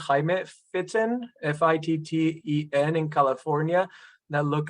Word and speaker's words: Fitten: There are a few papers from, it is pronounced Jaime Fitten, F-I-T-T-E-N, in California, that look at vascular dementia and vascular cognitive impairment in Latinos compared to non-Latino whites.